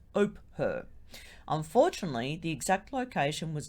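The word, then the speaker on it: Ophir: r i it's pronounced oper no not oprah don't don't relate it to the tv show host oprah no it's oper unfortunately the exact location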